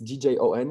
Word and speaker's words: Gjon: know I I mean my name was it's djon it's really written like music because it's an Albanian name and like uh people